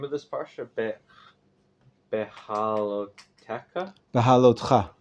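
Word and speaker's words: Behaalotecha: Behaloteka? Bahalotcha. Behalotcha.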